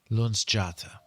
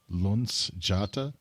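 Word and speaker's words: Luzjata: sorts what we do have a high priestess Lun jata Lun jata yep not going to be able to spell that one l u Z j a t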